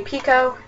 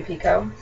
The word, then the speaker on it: Picoult: Sister's Keeper by Jodi Picoult. It is pronounced Pico.